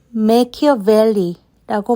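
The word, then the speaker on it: Machiavelli: 인물 바로 니콜로 마키아벨리 이 컬러 메이큐밸리라고 발음되는 마키아벨리입니다 마키아벨리는 르네상스 시기에 이탈리아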